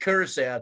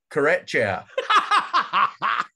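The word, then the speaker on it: Curaçao: but what you say please pronounce names properly uh they played a team called karachaya karacha garage um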